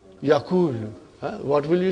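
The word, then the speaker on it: يقول: If I put a sukoon on vav and dhamma on kaf, how will you pronounce it now? Yakulu.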